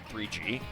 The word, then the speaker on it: GGG: It is pronounced 3... Okay, fine, I guess I can do that. 3G.